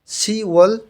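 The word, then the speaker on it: 시월: ইউওল হচ্ছে জুন মাস, সিরওল জুলাই মাস, ফারওয়াল অগাস্ট মাস, খুওয়াল সেপ্টেম্বর মাস, শিওয়াল অক্টোবর মাস, এখানে বিয়োগটা বাদ যাবে, শিওয়াল অক্টোবর মাস, শিবিরওয়াল বিয়োগটা ইয়ংয়ের স্থানে চলে যাবে, আবার রিউলটা ইয়ংয়ের স্থানে চলে যাবে।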